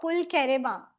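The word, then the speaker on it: pulcherrima: एक फ्लावर है red colour का, उसका scientific term is this, euphorbia पुलचेरिमा. कुछ कुछ जगहों पे this CH is pronounced as CH ch. Some places it is pronounced as k, पुलचेरिमा.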